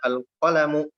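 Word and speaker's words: القلم: ini diberikan alif lam maka cara membacanya alqolamu tidak ditanwin kan nya tidak ditampilkan kemudian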